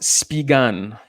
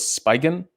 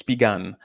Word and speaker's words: Spigen: It's pronounced Spigan. So I thought it was Spigen, but it's Spigan.